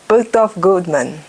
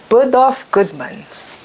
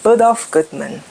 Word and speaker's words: Bergdorf Goodman: Never been to Bergdorf Goldman. Never been to Bergdorf. I've never been to. Let me say it right. Bergdorf Goodman. Bergdorf Goodman.